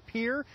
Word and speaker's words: Pierre: mansion at the state capitol in peer and if you pronounce it pierre you're not from around here governor dugard is the